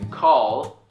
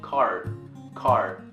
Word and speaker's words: call: Call. A lot of Korean people would pronounce it as car.